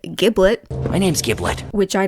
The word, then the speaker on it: Giblet: Then you meet a new character whose name is Giblet, but for some reason they pronounce it Giblet.